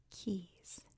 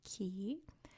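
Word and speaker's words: cay: called in the Bahamas keys can see they're all c a y which in the Bahamas is pronounced key over where I live in the United States it's pronounced K from what I've understood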